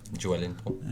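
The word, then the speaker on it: Joelinton: How do you say that? Joel Linton. Joel. You know, like Billy.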